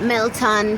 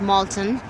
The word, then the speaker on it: Milton: mate we are at Milton community center oh sorry it's pronounced Moulton from in center and